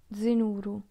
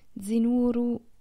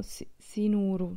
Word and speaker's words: Zinuru: Semplicemente non sono pronunciati nel modo corretto, cioè invece di dire Zinuru, cantano Sinuru, cioè sembra una S.